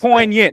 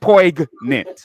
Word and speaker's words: poignant: It's poignant, not poisonant.